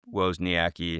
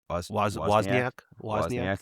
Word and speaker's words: Wozniak: And so I think if somebody were to come knocking, and Steve Wozniacki, if that's the right way to say is Wozniak. Thank you. I got him confused with the tennis player.